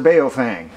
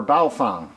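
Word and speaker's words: Baofeng: in the militia movement mr beofang or baofang everyone pronounces it different these are chinese-made radios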